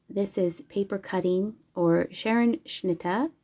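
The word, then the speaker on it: Scherenschnitte: And then this is paper cutting, or Sharon Schnitta, I believe is how you pronounce it. That's how they pronounce it around here.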